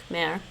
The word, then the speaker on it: Khmer: Albanian, Khmer. It rhymes with bear. Khmer.